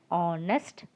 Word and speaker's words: honest: So because it's starting with a vowel sound, we use the article an honest person, an hour, an honor. Okay, H is silent in these three words.